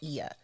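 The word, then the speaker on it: Oia: the main city of IIA which is spel it don't sound like how it's spelled it's o i a and that's called IIA and that's the main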